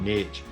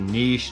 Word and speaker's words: niche: pre I hear them I hear two different pronunciations but I call it niche it's a niche niche how you gonna say it wherever side of the street you're standing on but it's a pretty